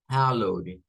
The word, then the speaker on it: hallowed: Hallowed. We have two pronunciations for this word. It can be like hallowed or maybe Halloween.